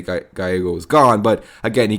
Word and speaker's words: Gallego: his name it's it looks like almost like Galo but he is is of a Mexican descent so it's actually pronounced gyo so Mike gyo born October 31st uh 1960 so just recently